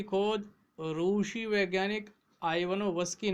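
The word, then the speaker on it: Ivanovsky: आप इसको इवानोवस्की भी पढ़ सकते हैं, आइवानोवस्की भी पढ़ सकते हैं, लेकिन आइवानोवस्की सही है। इवानोवस्की ये उच्चारण सही नहीं है।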